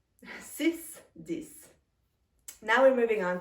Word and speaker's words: six: Again, un, through the nasal passages, cinq, six. Now pay attention to this one because it's spelled the same way as in English. 6 and six. Spelled the same way, but very different pronunciation.